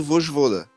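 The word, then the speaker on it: Vojvoda: Por exemplo, gosto muito do Vosjvoda do Fortaleza, mas não sei se ele seria o técnico ideal para quem?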